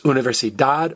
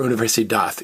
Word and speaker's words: universidad: D-A-D can be pronounced dad or dath. Like the truth is la verdad or la verdad. University is universidad or universidad, either one.